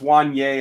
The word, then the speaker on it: Wanya: Yeah, DC Hawk, we're working on pronunciations, man. Still draft weekend. We're going to get there. I know it's Wanye.